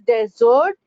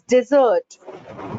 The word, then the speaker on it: desert: Some people call it as desert, it's desert.